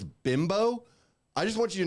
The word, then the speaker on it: Bimbo: pronounced Bimbo. Yeah, it's a Mexican brand.